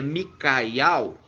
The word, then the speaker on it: Miqueias: Então se pronuncia Micaial, e Mica significa o que, irmã Adriana?